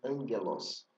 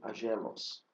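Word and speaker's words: ἄγγελος: A letra grega gama, ela deve ser pronunciada como um som e de mi nu quando precede a um k ou outro gama. Veja, por exemplo, angelos e não agelos, anquira e não agquira.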